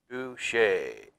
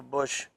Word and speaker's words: Buschle: It's German and Irish, and it's pretty hard to pronounce. It's called Buschle.